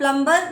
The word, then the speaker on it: plumber: ठीक है, हम plumber नहीं कहते हैं, we say plumber. B का जो sound है, the sound of B is silent.